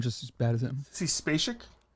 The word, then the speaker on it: Sissy Spacek: Sissy Spacek. It's close. Gus, how do you pronounce it? I'd say it's like Spacek. Like Sissy Spacek. Spacek.